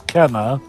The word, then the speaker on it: Kena: yeah for some reason a lot of people pronounce this as kina even though it is kenna see cairo okay so